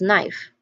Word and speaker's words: knife: Again, it's knife because the silent letter is letter K, or we pronounce it as k. We don't say this particular word as knife, knife. We don't say it like that. We say it as knife. We start with a n sound. So there is a silent letter there, and that is K.